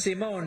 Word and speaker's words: Simone: It's Simone, and the way you said it, Sandy, was phone.